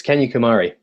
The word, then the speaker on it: Kanyakumari: It's can you pronounce it for us where you end your journey? It's Kanyakumari.